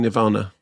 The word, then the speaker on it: Nirvana: But it is Nirvanna, the band. Yeah. Okay. Which I would say Nirvana.